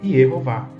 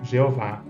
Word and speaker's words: Yehová: com o tetragrama e as vogais E, O e A, para se pronunciar em hebraico Yehová. Em português temos a tradução Jeová. Né?